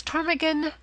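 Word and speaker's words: ptarmigan: This, however, is silent like the tomb. Compare such words as Tarmigan, Psalm, and Theis.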